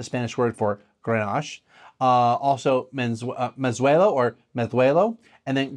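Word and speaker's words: Mazuelo: So as far as I know, the proper, true, proper Basque-ish pronunciation of those two is Mezuelo and Graciano, okay? So you have like that, your tongue kind of does that, like almost like a lisp.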